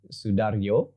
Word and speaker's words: Soedarjo: His name is Gari Soedarjo. It's a J with a Y that's spelled like a Y.